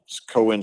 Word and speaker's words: Coen: Cohen spelled like the Cohen brothers, Coen.